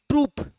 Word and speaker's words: troupe: देख, डांसर्स के ग्रुप को कहा जाता है TROUPE, ट्रूप। स्पेलिंग देख ले, स्पेलिंग।